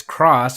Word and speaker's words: Cross-Z: I've seen countless times at its cross with a silent Z and not claw I've